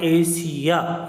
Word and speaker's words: Asia: तो यहाँ पर देखो आप, एस के आगे क्या है, IA आ गया, तो ये क्या हो गया, एशिया, यानी गांठ वाला सा आ गया, एशिया यानी एशिया।